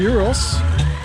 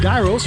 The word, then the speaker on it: gyro: He's slicing the gyros. How do you pronounce that? Gyros? Gyro, yeah. Gyro. Pronounce it gyros, right?